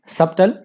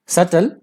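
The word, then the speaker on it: subtle: इसके एंटोनिम्स है सबटल, सटल, बी यहां पे साइलेंट रखिएगा, सटल, क्वाइट और अननोटिसेबल।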